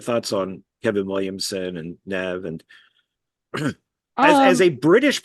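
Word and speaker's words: Neve: wrong you know so it is it is pronounced Nev like that's yeah that that's what I thought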